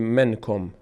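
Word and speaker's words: منكم: داریم داریم داریم که این نون ساکن بعدش حرف کاف هست و این کاف نه از حروف حلقیست و نه از حروف یرملون و نه با هست اینجا نون مخفی میشه در بینی وقت تلفظ این ما باید بگیم نمیگیم منکم منکم خب این رو در بینی ادا می‌کنیم من من من من من من منکم مقداری هم روش مکس می‌کنیم خب منکم اینجا اخفاش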